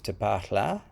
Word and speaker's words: Tpaalha: you an overview of te pachla with a nice long a jesse is really good at pronouncing the name of the language de parla is kind of a